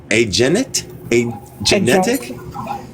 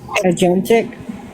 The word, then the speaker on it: agentic: over those of a A genetic? Agentic. You don't know, do you? I'm gonna look it up. It's pronounced agentic.